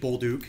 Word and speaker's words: Bolduc: uh background sure um my name is baluk it's spelled uh b o du and I am running